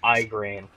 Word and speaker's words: Igraine: Marquis, you and Lady Igraine take that entrance. Excuse me, sir. I believe it's pronounced Igraine.